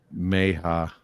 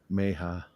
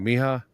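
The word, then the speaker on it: mayhaw: Pronounced Meha. Meha. Kind of like Miha.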